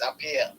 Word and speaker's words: Aappiah: Is it Aappiah or Aappiah? I think you said it right. Actually, it's Aappiah.